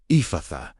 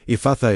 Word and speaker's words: Ephphatha: How to pronounce and use Ephphatha pronunciation. Let the middle syllable open. Do not close it. Breathe it outward.